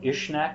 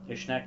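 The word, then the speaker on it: Uisneach: lit on the hill of ishnek at this time ishneck is uis n-e-a-c-h um ishneck is also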